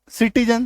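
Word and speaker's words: citizen: तो सी के बाद क्या है, देखो आई है तो सिटीजन, सी के बाद देखो क्या है, ई है बैलेंस, सी के बाद क्या है ई, सी के बाद क्या है ई प्राइस, सी के बाद क्या है वाई। तो ई आई वाई अगर होगा तो आपका स आना फिक्स है ना।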